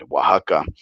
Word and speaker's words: Oaxaca: in Oaxaca, or let me say it right, Oaxaca, in about a month and a half.